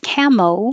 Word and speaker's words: camo: And the shorter version, the nickname for camouflage is camo, which made it sound a lot like camel. So with camo, you're ending with an O and your lips are rounded.